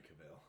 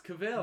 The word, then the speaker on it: Cavill: I love Henry Cavill. It's Cavill. No, he pronounces it Cavill.